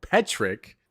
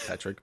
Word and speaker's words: Petrick: Petrick, not Tetrick.